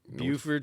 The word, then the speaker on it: Beaufort: Well, we're here in the Mighty Sparrow, and do I pronounce this right? Buford, yeah. Buford, South Carolina. South Carolina. Beaufort, North Carolina, I believe. Oh, You know. oh my God. Yeah, they're spelled the same, but they're two very different places.